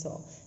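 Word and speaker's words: sans: Fourth poem is La, L-A, La, Bell, B-E-L-L-E, La Belle Dem, D-A-M-E, La Belle Dem, Saw, S-A-N-S, Saw, S-A-N-S, pronunciation is Saw, La Belle Dem Saw Mercy, M-E-R-C-I.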